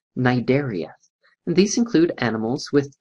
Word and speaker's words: Cnidaria: Now in this case, it's one of those interesting Latin words that starts with a silent C. So it's pronounced Cnidaria.